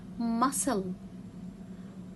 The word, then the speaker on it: muscle: letter c because it comes after letter s muscle muscle again i will cut letters and what